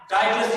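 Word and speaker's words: Titus: ایک Roman general آیا، ٹائٹس جسے کہتے ہیں، ٹیٹوس اس کے مختلف تلفظ ہیں.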